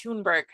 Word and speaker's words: Thunberg: Greta It's Thunberg.